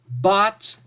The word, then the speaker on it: bought: Bought, bought. So pay attention to the pronunciation again here. This O-U-G-H-T sounds like ought.